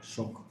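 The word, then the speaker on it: שוק: Like the word shuk, but shok.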